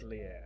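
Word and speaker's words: atelier: Alier obscura or Atlier. It depends on how you want to pronounce, but it's Atlier.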